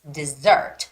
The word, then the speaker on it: dessert: a very famous word it's not desert desert like Mojave Desert no it's dessert so the difference is when it's a desert like there's lots of sand no water the stress goes on the first heat so it's desert desert but in this case it's dessert so the stress goes on the secondly so it's got to